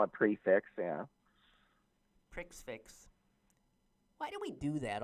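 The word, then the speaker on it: prix fixe: in Pittsburgh that are offering a special multi-course prefix. How do you pronounce that? Menu. I always call it prefix, yeah. Prix-fix.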